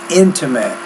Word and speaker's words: intimate: um the it it intimate intimate or kid or mitt versus meat so you're having some trouble with those two vowel sounds the longer versus the shorter you're you're better with